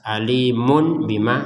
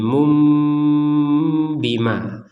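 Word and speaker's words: أَلِيمٌ بِمَا: Nah, ini jadi cara bacanya jangan dibaca dengan jelas. Alimun bima salah. Harus dibacanya nanti diganti menjadi mum bima.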